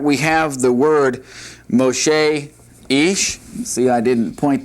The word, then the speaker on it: Moshe: M-O-S-H-E. Moshe. And that's how you pronounce Moses' name.